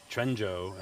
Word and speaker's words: Quanzhou: it's Quanzhou.